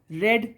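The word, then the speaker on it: read: रीड की तीन form क्या होती है? रीड, रेड, रेड। स्पेलिंग तीनों की सेम होती है, लेकिन यहाँ पर रेड पढ़ेंगे इसको।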